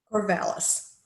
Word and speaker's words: Corvallis: Corvallis. Corvallis. Okay, I don't pronounce it right.